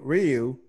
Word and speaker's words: Ryu: He was one of the first to get it, and I picked Ryu, and I beat him. Wait, how'd you pronounce that?